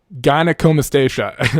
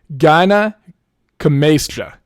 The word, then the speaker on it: gynecomastia: to be gyno or gynecomastia. Am I pronouncing that right? Probably not. Let me make sure I have it. Hold on. Gynecomastia. Gynecomastia, I think is the correct pronunciation.